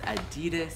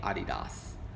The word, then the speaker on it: Adidas: Like, if you're from anywhere but America, by the way, we say this like Adidas. Adidas. I think it's Adidas. See how I pronounce that? But Adidas. Adidas. A lot of people are pretty much anywhere but here pronounce it Adidas or all that stuff.